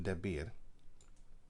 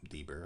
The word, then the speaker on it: Debir: And the name of Debir, or Deber, how you want to pronounce it, before was Kirjath Sefer.